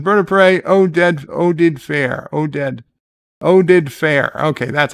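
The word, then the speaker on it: Oded Fehr: Oded Fair. Okay, that's how you pronounce the name.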